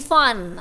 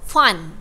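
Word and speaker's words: Pfund: Okay, sebut, kita silent P eh, kita tak sebut P Fan, kita sebut Fun, alright.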